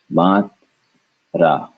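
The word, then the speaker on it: मात्रा: the conjunct like we've been doing so first syllable would be mat and then last would be ra mat ra Matra put it together Matra Matra Matra Matra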